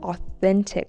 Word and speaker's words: authentic: Second, follow people who show real authentic content. People who talk about their struggles, not just their success. Authentic. Authentic with an emphasis on the second syllable.